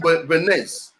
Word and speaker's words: Bernays: Some people call him Bernays. The S is silent. He's French. He was French.